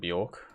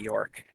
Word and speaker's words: Bjork: Sergeant Bjork. It's not the York.